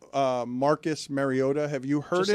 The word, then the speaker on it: Mariota: How do you guys say Marcus Mariota?